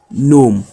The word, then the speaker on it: gnome: We have gn, where the g is silent. We have no, nash, sign, nu, gnome.